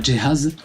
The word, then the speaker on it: Jay Haze: C'est Jehaz qui répond.